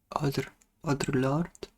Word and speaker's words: Audre Lorde: Is it how you pronounce her name? Audre Lorde?